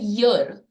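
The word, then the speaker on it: year: एन नहीं लगाना चाहिए क्योंकि उसका उच्चारण होता है यर य से शुरू हो रहा है वो वो ई से शुरू नहीं हो रहा है ई से शुरू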